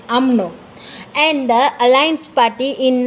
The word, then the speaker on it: UMNO: The Malay are playing a supportive role and subservient to the United Malay Nation organization that we call as a normal pronunciation is UMNO, and the Alliance Party in 1955 to that the 1957 Malayan Constitution underwriters, which such a conclusion.